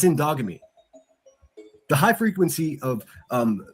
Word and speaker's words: endogamy: It's called endogamy. I'll spell it for you. E N D O G A M Y. It's indogamy.